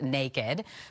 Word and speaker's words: NKD: Doritos and Cheetos have launched a new line of chips called NKD, pronounced naked, that will be missing some traditional colors.